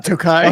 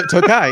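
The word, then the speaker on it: Türkiye: How do you pronounce that? Turkey. Tai like tookai. Oh yeah to tookai. Yeah that's the one.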